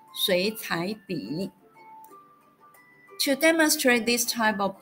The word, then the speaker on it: 水彩笔: Thus, the whole three character word is pronounced as 水彩笔.